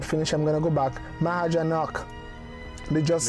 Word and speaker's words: Mahajanak: You guys were telling me it's not Mahajanaka, it's Mahajanak. So Mahajanak.